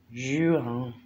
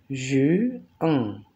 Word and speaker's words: juin: Junio decimos juin, juin, juin. Porque es nasal y N es nasal, ¿sí?